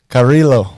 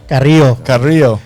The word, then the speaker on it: Carrillo: Carrillo. Carrillo.